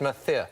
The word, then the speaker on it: Murcia: Murcia. It's not Murcia, it's Murcia.